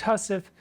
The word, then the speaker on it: housewife: as I said before a housewife is pronounced house if calling to mind also hussy and it goes through the scene pretty pretty clearly and then we get to line 10.